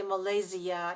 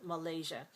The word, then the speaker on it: Malaysia: And we also have it in words like Asia and Malaysia and Indonesia. Now, it's also possible to say Malaysia and Indonesia. Some people say that. Most Americans don't. Most Americans say Indonesia and Malaysia.